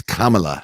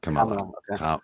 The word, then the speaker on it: Kamala: and by the way it's kamala harris not come on come on the accent is on the sure first m or the first syllable my last my last